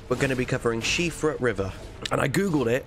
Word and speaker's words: Siofra: elden ring videos we're going to be covering shifa river and i googled it i didn't pronounce this one wrong it's irish and it's pronounced shifra okay just wait till someone tells me i've